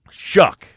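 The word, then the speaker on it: Shough: Oh, for pronunciation. Shuck. Yeah, Shuck.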